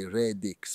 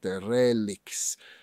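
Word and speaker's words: Rédics: If I wanted to go to Redix, I wouldn't say Redix, but Relix.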